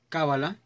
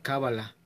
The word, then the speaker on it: Cábala: En el principio del programa les mencionaba que hay quien pronuncia Cábala y hay quien pronuncia Kabbalah. De hecho, si se dieron cuenta en lo que fue esta canción de Therion, ellos dicen Cábala.